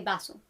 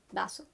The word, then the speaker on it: vaso: And the V can also be pronounced in Latin America and in some parts of Spain as a B. So you can say vaso. vaso. You can say, it's not incorrect to say vaso, but you can say